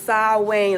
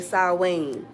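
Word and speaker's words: Samhain: Austera or um happy saw Wayne. Okay. I picked that one on purpose because a lot of people be like snee. The purple the proper pronunciation is saw Wayne like Wayne. Okay, saw Wayne.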